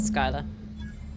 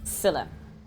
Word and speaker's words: Scylla: think I've been pronouncing it Skyla. Scylla.